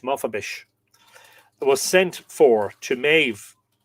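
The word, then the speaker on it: Mofebis: Maf I presume the the S it would be pronounced S sh H. Mafabish was sent for to Mave.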